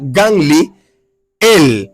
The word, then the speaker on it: Gamaliel: El significado de Gamaliel en hebreo se pronuncia Ganli, él, que quiere decir Dios es mi recompensa o recompensa de Dios.